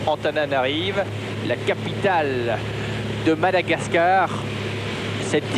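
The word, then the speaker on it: Antananarivo: 2 heures depuis cette ville que nous les Français appelons familièrement Tananarive et que les Malgaches prononcent Antananarive, la capitale de Madagascar.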